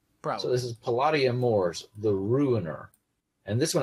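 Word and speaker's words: Palladia-Mors: Is that how you pronounce that? Yes. Sure. Hey, I got one right. I mean, I would say Palladia, but that's just me. I think you can go either way.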